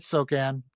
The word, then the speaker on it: Sochan: Yep, Jeremy Sochan, So- Sochan. How do you say his name? Yeah, you got it, Sochan.